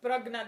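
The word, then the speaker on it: प्रज्ञा: The supreme self identifying itself with this, the deep sleep condition, is called the prajna. The supreme self identifying itself with this deep sleep is called the prajna.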